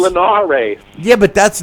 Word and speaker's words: Linares: It's Linares.